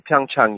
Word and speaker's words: Pyeongchang: I haven't been to Pyeongchang yet. And I only say it Pyeongchang because we're being told that's the proper way to say it, but I also think it's Pyeongchang.